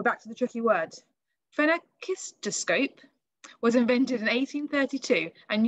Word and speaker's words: phenakistoscope: So this one, when I say it slowly, is a phenakistoscope. Phenakistoscope. I did look it up to check I was pronouncing it correctly.